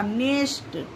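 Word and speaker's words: nest: नेस्ट ठीक है?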